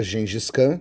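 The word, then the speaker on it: Genghis Khan: Gengcan, a gente fala gengiscan, se escreve diferente aqui também, mas hoje em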